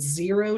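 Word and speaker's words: Xero: this is by a company called zero shoes it's spelled x-e-r-o shoes um dot com is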